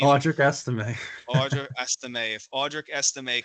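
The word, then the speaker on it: Audric Estimé: If it's, how do you pronounce his name? Travis Esteem, right? No, Audric Esteem. Audric Estime.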